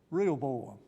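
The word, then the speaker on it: Rehoboam: the first king well it Nam rhymes with jeroboam could you could you sort of guess could you sort of guess what his name is real boam I remember being a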